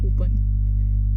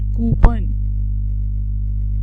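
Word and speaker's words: coupon: ये बहुत कॉमन practice है, बड़ी कॉमन प्रोनाउंसिएशन है कूपन. This is wrong. This word is नॉट कूपन. इट्स नॉट कूपन, इट्स कूपन. PAWN, pawn, कूपन.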